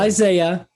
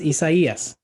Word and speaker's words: Isaias: And for the record, when we get to the I storm, Isaias. Oh, Just wow. start practicing now. Oh, It's not boy. Isaiah. It's Isaias.